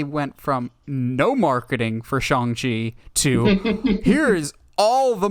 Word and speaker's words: Shang-Chi: the upcoming Shang Chi movie, which it's actually pronounced Shang Chi and not Shang Chi.